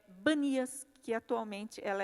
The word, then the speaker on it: Banias: a se chamar Banias, porque os árabes não conseguem pronunciar o P, né? Tanto é que se você vê um árabe falando, por exemplo, ele não fala primo, ele fala brimo, né? Então, de P passou para B.